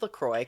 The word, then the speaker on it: LaCroix: miss pronounce it bitch it's Lacroix Lacroix everybody calm down um it's like st. croix yeah we don't say st. quoi all right no you